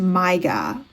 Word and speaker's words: Maiga: Okay, it's French. This is a French name. Typically pronounced Myga. Myga. Mygah. Okay, let me listen to the audio because clearly I don't know what I'm doing. Maiga.